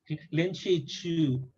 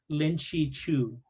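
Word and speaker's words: Lin Zexu: Yeah, Lin Chi Chu, Yes. like So shoe, like you wear a shoe. Lin Chi Chu, shoe. Lin, Lin Chi Chu, at least as far as I know.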